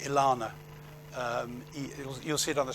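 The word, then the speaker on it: ELaNa: The other thing they have, which I think is coming up, is I think they pronounce it Ilana.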